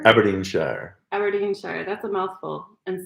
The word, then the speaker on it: Aberdeenshire: Aberdeenshire? Aberdeenshire.